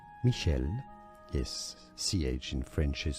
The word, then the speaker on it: Michel: In French it is said as Michelle. Yes, ch in French is pronounced as essay. Michelle Michelle.